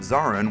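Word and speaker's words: Zorran: Fun fact, the character of Zarin was named so because it rhymes with Moran.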